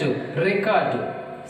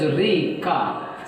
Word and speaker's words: record: And next, record. See, stress is on first syllable, whereas record second syllable.